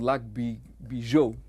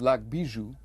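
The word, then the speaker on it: Lac Bijou: step at a time it's called luck bee bee joke which is sort of the way they pronounce it but I believe what it what it's what it should read is lock Bijou which is the jeweled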